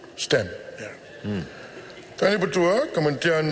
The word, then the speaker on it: STEM: Dulu saya kata saya silap sebut STEM ni STEAM. Jadi dia kata bukan STEM, dia kata adakah STEM itu bidang baru. Hari ini saya make sure kerana pronunciation saya itu betul, STEM.